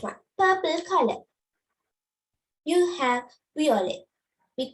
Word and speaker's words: violet: Because violet, this t is silent, but here the t is in the middle.